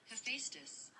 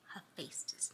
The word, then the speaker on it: Hephaestus: So Hephaestus. Hephaestus.